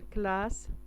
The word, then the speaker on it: classe: une classe قسم أو فصل. هنا كنشوفوا هاد اس مكررة لأن بين entre أو بين دو فويل. هادو لي فويل كيتسماو أ و أو. كررت باش تنطق اس ما تنطقش زد.